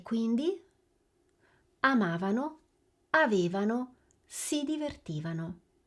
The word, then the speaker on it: avevano: Avete sentito la differenza di posizione nell'accento tra il noi e il loro? Rivediamola insieme. Noi amavamo, avevamo, ci divertivamo e loro amavano, avevano e si divertivano. Fate attenzione all'accento dell'imperfetto perché nella coniugazione si muove.